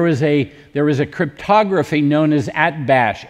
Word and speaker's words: Atbash: And at the time of Ezekiel, there was a cryptography known as Atbash. A-T-B-A-S-H is the English pronunciation.